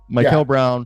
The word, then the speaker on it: Mikel Brown: Mikel Brown.